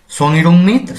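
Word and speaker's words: 성희롱: সংইরং, এখানে ইয়ং বাচ্চিমের পর হিয়ত আসার কারণে হিয়তের উচ্চারণটি হবে না এবং কোনো একটি শব্দের মাঝামাঝিতে বা শুরুতে যদি উই এই স্বরবর্ণটি আসে তখন এর প্রাথমিক ধ্বনি হবে ই।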